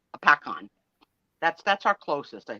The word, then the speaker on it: Hopatcong: lake Hopatcong that is spelled h-o-p-a-t-o-n-g-hop but it's pronounced apacon that's that's our closest I think Sherry Trish